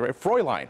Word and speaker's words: Fräulein: Fräulein. Nice job. Yeah. Can you spell it? That's the question. The girl you're about to meet can. Fräulein, by the way.